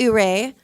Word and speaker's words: Ouray: So the town's pronounced Ouray, but they also pronounce this Ouray and Yure and Ire.